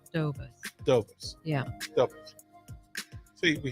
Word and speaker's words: DeBose: So, is it DeBose, or how do you want it? How do you say it? DeBose. I say it Dobus.